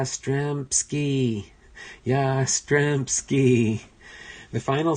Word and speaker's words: Yastrzemski: the Red Sox is unable to properly pronounce Yastrzemski 'he's name and it has to be corrected by the surrounding fans yeah Stremme ski yeah Stremme ski the